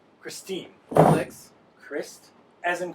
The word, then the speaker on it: Christine: Christine. Alex. Christ, as in Christ, as in Jesus Christ, and teen, as in teen.